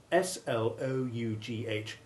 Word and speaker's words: slough: other solely by pronunciation the word slough with the ou7 sound running with tough means the skin shed by a snake or by a person